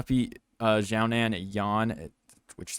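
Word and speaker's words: Yan: Jessica andrage versus soundman Yawn is how they say it now andraj 24 and 10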